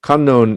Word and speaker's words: Kannon: the thousand armed unknown kannon is the japanese pronunciation for avalokiteshvara bodhisattva and many of the